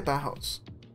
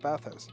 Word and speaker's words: bathhouse: How'd you say bathhouse? Yeah, just bathhouse. But like bath house, because do you pronounce both the H's? Both. Bathhouse. I just say it as two different words, basically.